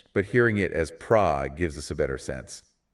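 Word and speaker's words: Phra: h r a for fra. We don't pronounce it like that. The ph should not be pronounced like an f. It should be pronounced like a P.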